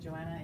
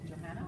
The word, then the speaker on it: Johanna: I said Joanna, it's Johanna?